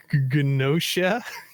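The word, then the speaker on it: Gnosia: sure i'm pronouncing correctly ganosha i think the g is silent yeah i think it's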